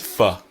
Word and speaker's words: for: And this is a letter and it's just like an it's a soft That the strong pronunciation of for is for. But when we speak quickly, it's fa, right?